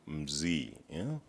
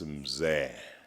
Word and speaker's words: Mzee: I saw his name, I called him Mzee, because that's how most of us South Africans would pronounce it, until the kindness of the chairperson said, this is Mzee.